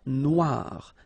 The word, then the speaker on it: Noire: Then here, la mer Noire. Same thing here that we had previously. Final E not pronounced, okay? And then O-I, remember, wa, noir, noir.